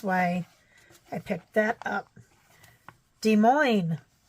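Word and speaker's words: Des Moines: I picked that up de Mo even though it's spelled Des Mo or Des Moes the s's are silent our city says welcome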